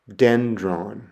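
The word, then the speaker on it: δένδρον: And the example I have there is the Greek word for tree and it's pronounced dendron. Dendron.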